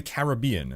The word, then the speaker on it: Caribbean: So I always used to pronounce it Caribbean. But then I always hear people saying Caribbean. So I'm like, oh, I guess I'm wrong. Hey, cheers, Kicker. It is the second, so it is Caribbean.